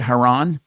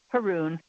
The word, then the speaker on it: Huron: What's going on with, is that how you pronounce it, Huron? Huron? Haroon. Haroon.